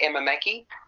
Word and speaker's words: Emma Mackey: writer and poet a role Phil do you pronounce her name Mackie m-a-c-k-e-y Emma Mackey yes that's what Ralph said yeah yeah okay